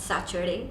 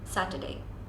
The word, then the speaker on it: Saturday: Tuesday and Wednesday then the most mispronounced word that I am guilty of is Saturday it's not Saturday it's Saturday Saturday not Saturday it's